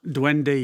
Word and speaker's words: duende: And did I pronounce that right? Dwende. Dwende.